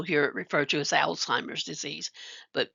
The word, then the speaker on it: Alzheimer's: Alzheimer's disease, you may also hear it referred to as Alzheimer's disease, but note it does not have a T in it, so you don't want to pronounce it with a T.